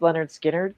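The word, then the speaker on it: Lynyrd Skynyrd: Leonard Skard, pronounced Leonard Skinnard came out with Simple Man and Give Me Two Steps.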